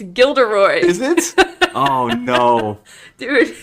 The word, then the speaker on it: Gilderoy: calling him Gilroy Lockhart it's not even Gilroy it's gilderoy is it oh no